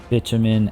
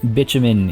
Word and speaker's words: bitumen: By the way, I just want to mention bitumen is the correct pronunciation of that word. It is not bitumen, which I used to think it was, but it is bitumen. I've seen a lot of comments about that. And it's like it. Unfortunately, I know how silly it sounds potentially, but that is how you say that word, bitumen.